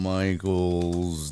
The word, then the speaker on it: Michaels: So Lorne Michaels, is it Michaels or Michael? Lorne Michaels. That's not how you spell it.